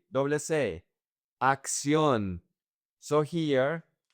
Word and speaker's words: acción: "Acción". So, here, this first C in Spanish sounds like a K.